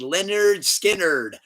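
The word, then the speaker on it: Lynyrd Skynyrd: Pronounced Leonard Skinner, number 3.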